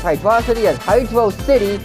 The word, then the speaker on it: Hydrocity: emotion effect also yes I pronounce the Zone's name as hydrosity instead of hydro City for a very specific